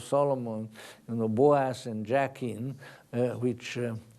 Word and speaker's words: Jachin: you know, Boaz and Jachin, which. Someone pronounced them Boaz and Jackass. Well, it rhymes, you know.